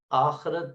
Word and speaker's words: آخرت: زیادہ بن سکتے ہیں۔ آخرت، آخرت، یہ خے کے نیچے زیر ہے اور رے پر زبر ہے تو پڑھا جائے گا آخرت بھی پڑھ لیتے ہیں اس کو، لیکن آخرت زیادہ بہتر ہے پورے تلفظ کے ساتھ پڑھنا.